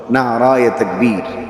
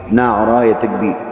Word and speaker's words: নারায়ে তাকবীর: এজন্য অবশ্যই শুদ্ধ শব্দ ব্যবহার করতে হবে। নারায়ে তাকবীর। নারায়ে তাকবীর।